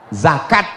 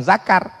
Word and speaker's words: zakat: Yang paling tinggi namanya za zakat, bukan zakar. Zakat.